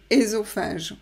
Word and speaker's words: œsophage: Vous observez que la gouttière ressemble à la gorge et à l'œsophage ou ésophage. Moi, je dis œsophage.